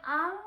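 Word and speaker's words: 暗: 자, 어두울 암자는 음으로는 앙 하고 발음을 합니다.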